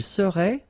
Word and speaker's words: serait: Il serait, final T not pronounced.